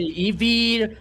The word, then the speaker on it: Eevee: Oh well I wanted to ask you is it Ivy or Eve? Been saying it wrong the whole time. It depends. It depends on the place you know. Here we we Okay. Here in Brazil we say Eevee.